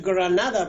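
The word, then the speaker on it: Grenada: Esa pregunta sería buena hacérsela, por ejemplo, a los habitantes de la isla de Granada, que hay que pronunciarla en inglés, Granada, porque ellos hablan inglés, que una minúscula isla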